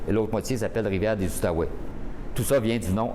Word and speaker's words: Outaouais: les fours eux mais les français prononcés outaouais et les anglais prononcé à ottawa donc c'est pour ça